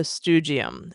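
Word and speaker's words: Stoogeum: Now, what you're going to find there is the StuGium. And yes, it rhymes with museum.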